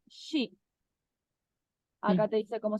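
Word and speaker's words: 是: Se escribe, fíjate, esto en bopomofo suena sh, sh. Es como, yo le veo que es el sonido puro. Sh. ¿Mm? Y acá ujú, tenemos un tono cuarto. Y este es el pinyin, shi.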